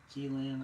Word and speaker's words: Qilin: Qilin or Kirin. Chinese, or I'm not sure if it's Mandarin or Cantonese, but it's Qilin. There's no U in it for some reason. But in Japanese it's Kirin. So like in Japanese the R's are kind of sound like L's.